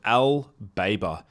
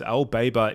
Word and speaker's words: L-BAIBA: So the compound that I'm talking about in today's video is called L-BAIBA. That's spelled L-B-A-I-B-A.